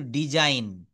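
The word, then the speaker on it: design: ডিই এস আই জি এন, এখানে কিন্তু ডিজাইন।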